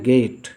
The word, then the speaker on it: gait: इसका उत्तर है गेट। Spelling ध्यान देंगे, GAIT, गेट।